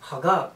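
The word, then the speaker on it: חג: Now before the feast, a better word for feast is Haggab. That's the correct pronunciation in Hebrew.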